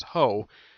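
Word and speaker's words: Hao: this, because the name Ho is a reference to a prostitute. Yes. prostitutes are also called hoes. Yes, I am not kidding about this. The way it's pronounced is ho.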